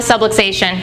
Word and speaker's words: subluxation: we call it a subluxation rhymes with subway station I tell people that's